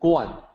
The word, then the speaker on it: Kuan: i actually pronounced like y i and then guan written as k-u-a-n pronounced as guam and then dao written as